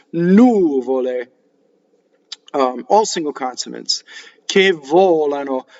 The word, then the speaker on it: nuvole: The normal stress in Italian is on the second to last syllable, right? For the most part, you'll be right. If you come across a new Italian word and you accent the second to last syllable. In this case, it's nuvole.